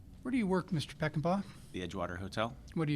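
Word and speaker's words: Peckenpaugh: Please state your name and spell it for the record. Good morning. My name is Peckinpah.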